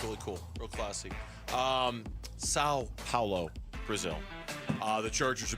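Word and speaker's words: São Paulo: Sao Paulo. It's not San Paulo. It's Sao.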